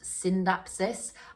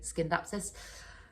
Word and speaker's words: Scindapsus: And I know I know Scindapsus is technically meant to be pronounced Syndapsis. I think I'm just stuck in old ways. I do still tend to say Scindapsus.